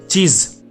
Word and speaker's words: चीज़: दूसरा है चीज। चीज ज के नीचे डॉट है तो नुक्ता बन गया, वो Z में उसका प्रोनाउंसिएशन या जो हम उसका उच्चारण करेंगे वो Z में करेंगे, चीज।